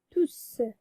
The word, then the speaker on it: tous: Il ne faut pas prononcer le S parce que on a dit on prononce S de tous lorsqu'il est placé devant un verbe. Et les hommes, c'est un nom. Donc, on prononce tout sans prononcer S.